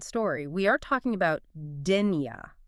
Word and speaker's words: Dénia: We are talking about Dena, and that's pronounced Dena.